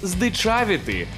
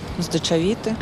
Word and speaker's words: здичавіти: сказати що усі молодці Та все ж правильно казати здичавіти і то не я то український словник так каже здечавіти здечавіти здечавіти зчавити здичавіти тактак фіксуйте собі у слові здичавіти наголос на звук а здичавіти блін я так